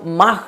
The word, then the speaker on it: Mach: और इस मिसाइल की गति, ध्वनि की गति का नाम माख नाम से कहा जाता है, MACH, माख उसका प्रोनाउंसिएशन है।